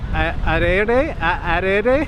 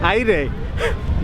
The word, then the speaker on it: aire: It's called taco de arere. How do you say? Aire. It's just taco, air taco.